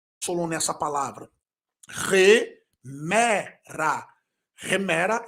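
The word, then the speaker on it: ἡμέρα: você vai descobrir posteriormente Por que eu pronunciei o Eta como re re remera e não emera com r na frente o nome disso é uma aspiração que você vai conhecer nas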